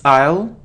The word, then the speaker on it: aisle: guitar so the stress is on the second syllable guitar it isn't easel or I so it's aisle aisle okay so it isn't effective its effective